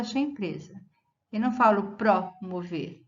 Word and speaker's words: promover: A sílaba forte é sei. Aqui, 10 dicas para promover o engajamento da sua empresa. Eu não falo promover, e sim promover.